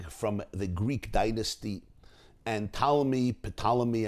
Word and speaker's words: Ptolemy: Talmi was an Egyptian king from the Greek dynasty, and Ptolemy, as they call him, spelled with a P, compelled and invited 72